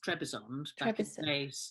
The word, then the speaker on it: Trabzon: by saying it right well it changed its name so it was trebezoned well back in the days before she wrote the towers of trevor's on but now it's trabzon trabson yeah i think i